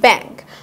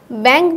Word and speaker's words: ব্যাংক: যেমন আমরা যদি দেখি ব্যাংক, ব্যাংক বানানটায় উমো আছে, কিন্তু উচ্চারণটা কি অং এর মতো হয়ে আছে।